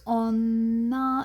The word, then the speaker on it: 女: child in her arms pronounced on nah it has other pronunciations but we won't learn them right now onna is what we're looking for here so if you